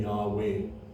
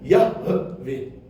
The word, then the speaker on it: Yahweh: In English, hay inside a word becomes part of the vowel, so we say Yahweh. However, in Hebrew, if it was to be pronunciated, you must hear the hay. So it should actually then be pronunciated Yahweh. That's how we should actually say it.